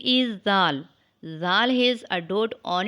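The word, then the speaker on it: ذال: a light sound later it is pronounced when the tip of the tongue comes out and touches the tip of the top front two teeth read after me Dal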